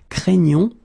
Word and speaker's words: craignons: is quite tricky because you've got this GN coming right here, and then the sound is craignons. Okay, you get the gn sound. Okay, craignons, craignez, craignent.